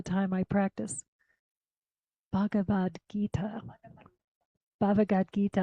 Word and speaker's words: Bhagavad Gita: Bhagavad Gita. I want to put an extra syllable in there for some reason.